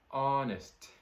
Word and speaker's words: honest: All right, so the next one we'll talk about is the word honest. Honest. This word has a silent letter H. So make sure you're not saying honest. That would be totally wrong.